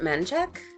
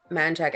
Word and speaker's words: Menchaca: than anything else but it's spelled Menchaca but everybody calls it manchek and like where why why Native American I I have no idea but we they always call it like manchac and actually um one